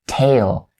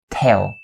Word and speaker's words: tail: sound of the word tail tail because if you're not careful when pronouncing the a sound of this word is going to be tell tell and when you tell